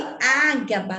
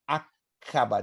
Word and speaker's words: Aqaba: Professor, mas eu li Ágaba, está lá no... Mas a pronúncia e a ortografia é acaba, de acabar. Acaba, porque é árabe.